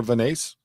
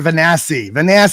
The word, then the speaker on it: Vanasse: And Amber Vanasse? Yeah, Amber Vanassi. Everybody keeps saying her name wrong.